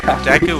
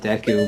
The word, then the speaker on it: Deku: when people just use, in Japanese, there's like, every vowel has a definite sound. There's no multiple sounds a vowel can make. And, they just use the definite sound for an E and a definite sound for a U because this game was Japanese.